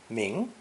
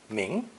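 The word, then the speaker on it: 名: in what's her name this new character is pronounced second tone ming ming why this combination simply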